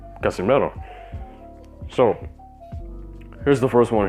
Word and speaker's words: Casimero: you westerners maybe you should try to practice pronouncing it right it's not pacquiao it's pacquiao it's not casimero it's casimiro all right if you say canelo alvarez you